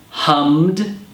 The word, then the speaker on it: hummed: shocked, hummed, painted, cashed. Hummed. Hummed has the d sound at the end, while shocked and cashed have a t sound at the end.